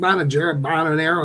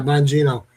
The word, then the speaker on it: Bongino: Gene Bonanero, is that how you say his name? Bongino? Yeah, Bongino.